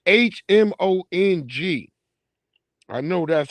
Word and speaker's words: Hmong: It's Hmong. I know that's how they showed me how to spell it.